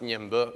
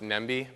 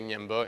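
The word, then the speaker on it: Ñemby: out into the um neighboring City U it's pronounced Nimo it looks like it's pronounced nmi but you say nyimo and we had fun um a lot of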